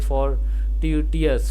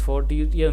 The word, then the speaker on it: fortuitous: The first O is pronounced like the AW in law, the U like the U in use, OU like the in A in China.